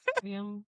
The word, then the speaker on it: Nxivm: It's spelled do you- Nxivm. Really fucking weird. How do you say it? Nexium.